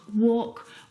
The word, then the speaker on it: walk: Words like salmon, not salmon, half, not half, would talk, walk. All of these words have a silent L in them, which makes them a little bit tricky to pronounce correctly.